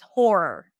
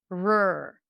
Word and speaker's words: horror: way with this horror, you're likely to keep the tongue up for the R and then it might just sound like one long r, right? Is that you? Are you making it sound like this? So in that case, just say h horror.